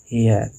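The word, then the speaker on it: heir: उसी तरह NMA, NMP, NMLA, NMSC, NNCC officer, NFIR, NRSS worker, NSP, NSDO, एन हेयर, इसका भी pronunciation ए से हो रहा है, जो एच जो है वो साइलेंट लेटर है, इसका मतलब होता है वंस।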